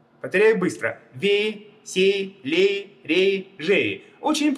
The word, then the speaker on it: Вей: Рейсит, жейсит, ударение на е везде. Повторяю быстро. Вей, сей, лей, рей, жей.